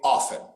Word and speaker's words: often: would you say this often okay notice there in he pronounces the t in american english we just say often so the t for us not pronounced silent so um what about